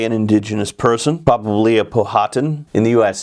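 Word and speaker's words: Powhatan: indigenous person probably a phatan in the US it's pronounced patan I pronounce it the English way because these would be English colonists a phatan had a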